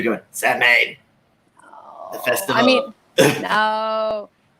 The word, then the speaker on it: Samhain: And I think in popular culture, a lot of people call it Samhain because that's what it looks like. But in pagan culture, it is called Samhain. Even though it's Samhain, it's pronounced Samhain.